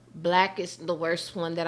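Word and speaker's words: BLK: So, um, I was on I guess I don't know if it's called Black or you pronounce it BK. Black B.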